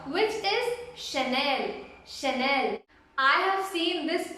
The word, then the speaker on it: Chanel: The CH is sha. You have to pronounce it as sha, which is Chanel, Chanel.